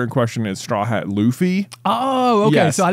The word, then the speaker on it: Luffy: Not even realizing that Goofy rhymes with Luffy.